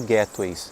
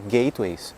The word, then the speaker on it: gateway: Porque gateway, da mesma forma como backend, frontend, gateway é formado de duas palavras, gate e way. Gate é um portão, um portal. Way é caminho.